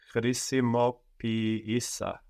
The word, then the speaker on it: χρησιμοποίησα: But because we are treating these two E's like two separate syllables, the first one takes the accent and we get χρησιμοποίησα. So actually it feels like we have the accent second from the end.